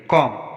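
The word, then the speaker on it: calm: कॉम, यहाँ पर भी एम के बाद बी आया है तो हम बी का उच्चारण नहीं करेंगे।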